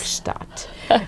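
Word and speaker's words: Gstaad: Gustat.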